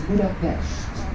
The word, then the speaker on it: Budapest: we don't say Budapest, you have to shh a little bit, so it's Budapest. That is the original name, or that's the original way to pronounce the city here.